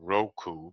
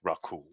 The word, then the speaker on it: Raku: You call them Roku, but it's Raku. Spelled the same.